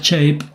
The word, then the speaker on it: shape: de El del del método shape chape se pronuncia shape y quiere decir shape en inglés quiere decir